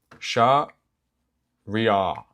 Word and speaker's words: Shahriya: Shahriya. And the sh sound is like the start of the word show. Okay, it's cool. It's like a normal sh.